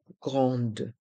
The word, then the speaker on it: grande: son 1 train et dans le mot grande les lettres a et n font le son en grande le TGV train à